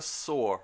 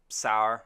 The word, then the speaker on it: Saor: I've been pronouncing it Saor for ages, like when you soar into the clouds or whatever, McGubbins, but I'm not 100% sure that's how I'm supposed to be saying it.